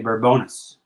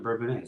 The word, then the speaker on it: Bourbonnais: And people say Bourbonis. Bourbonis. The locals say it Bourbonis. The Bourbonnais people? Yes. They live in Bourbonis. Bourbonis? Yes, Bourbonis. Is that right? Yes. Bourbonis. You didn't know that? I've been saying it wrong this whole time? Yeah, it's not Bourbonnais. It's Bourbonis. Bourbonis.